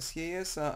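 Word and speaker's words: Sieyès: Emmanuel i tutaj Uwaga czyta się sesa a pisze się SJ w ten sposób okej no i 5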